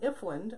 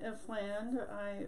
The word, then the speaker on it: Ifland: I'm here with Ifland. I didn't check to make sure I'm saying it right. It is Ifland.